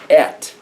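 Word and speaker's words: את: So in Hebrew, it says, Bereshit, bara, Elohim, and then there's this one word pronounced et. You'd spell it in English like et, et.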